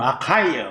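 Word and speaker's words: Achaia: 아가야 뭐 영어로는 아카이어 뭐 라고 읽어.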